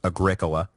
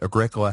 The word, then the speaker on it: Agricola: for the pronunciation correction it is Agricola not Agricola which yeah I agree sounds like some kind of terrible hippy soda so I'm sorry about